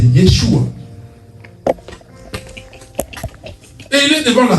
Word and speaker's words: Yeshua: Déjà en hébreu, Jésus ce n'est pas Yehoshua, c'est Yeshua.